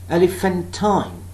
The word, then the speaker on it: elephantine: Now, if I say this word, elephantine, elephantine, elephantine, elephantine, elephantine. Unstressed, unstressed, stressed, unstressed.